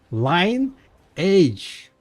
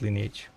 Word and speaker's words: Lineage: And I was making fun of people who pronounce it lineage too. And I was like, what the What? What do you mean lineage? It's line age, not lineage.